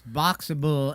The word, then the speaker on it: Boxabl: It's Boxable, and it's spelled BOXABL.